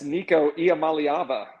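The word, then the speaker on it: Nico Iamaleava: former football player that is a very professional pronunciation can you say his name again Chris yes Nico IAM malava how about that I you know it took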